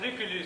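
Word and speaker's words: Lucullus: Voyons qu'on prononçait les culus. En prose peut-être, mais en poésie on prononce Lucullu, surtout quand Lucullu doit rimer avec la carte.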